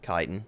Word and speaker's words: chitin: Not chitin, chitin. I've been saying it wrong all these years.